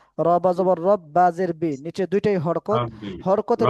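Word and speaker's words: رَبِّ: রব্বি শব্দটা কিন্তু টান হবে না। রবাবর রব্বাজের বিচে দুইটাই হরকত হরকতের উচ্চারণ তাড়াতাড়ি পড়তে হয়।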